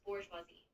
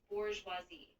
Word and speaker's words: bourgeoisie: The emphasis is usually on the last syllable, and the zh sound is kind of like the S in measure. So it flows as bourgeoisie.